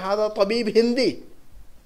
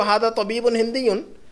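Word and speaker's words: هذا طبيبٌ هنديٌّ: बातचीत में ये प्रोनाउंस नहीं होते हैं, ये साइलेंट हो जाता है आदमी वहाँ पर, तो हम कहते हैं हादा तबीब हिंदी, लेकिन दरअसल वो हादा तबीबुन हिंदीयुन, ये हमारे बैक ऑफ द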